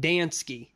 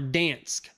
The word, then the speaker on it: Dansk: But I pronounce it Dansk or Dansk.